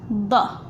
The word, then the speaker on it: ض: Da is a strong sound of d. Da, d. Da, d. D, d. Okay, where is, if I want to say da da, here.